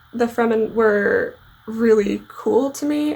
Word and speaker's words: Fremen: think because the fremen and i pronounced them freeman before but the fremen were really cool to